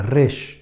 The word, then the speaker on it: Resh: con la siguiente letra que se pronuncia de esta manera rey y rey en hebreo